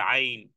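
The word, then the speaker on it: ع: হরফে মাখরা যাক ওই জায়গাতে আল আজিম এরপরে আইন আইন গলার মধ্যখান থেকে আইন আইন আল আলিউ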